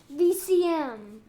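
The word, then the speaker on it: Veezoom: it is what um v e e z o o m but what is how you say that vcm vcm yeah like a vcr you know the vcr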